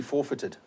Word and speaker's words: forfeited: It's pronounced actually forfeited.